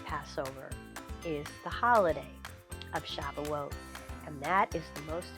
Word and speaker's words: Shavuot: reading a story about shavuot or the old-fashioned pronunciation is shabuos so this holiday begins